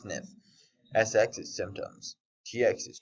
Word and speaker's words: SNF: is right upper quadrant SNF is Skilled Nursing Facility pronounced sniff SX is symptoms TX